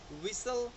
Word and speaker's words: whistle: कुछ English common words हैं जिसमें टी जो है वो प्रोनाउंस्ड नहीं होता। Like कैसल, Christmas, fashion, लिसन, often, बैरे, शेवरले, whistle, thistle, बसल और Hesson, soften, repo, गॉर्मे and ballet.